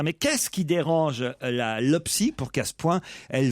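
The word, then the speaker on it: LOPPSI: La LOPSI va durcir la répression. C'est ce qu'on peut Toi-même lire. C'est ce qu'on peut lire dans la presse ce matin. Mais qu'est-ce qui dérange la LOPSI pour qu'à ce point elle veuille durcir la répression?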